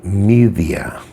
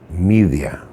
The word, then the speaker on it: Medea: most famous witches medea in greek it's actually pronounced media me the a media uh in english translations